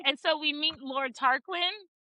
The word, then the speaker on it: Tarquin: Tarquin. Yeah. Okay. It's actually pronounced Aon.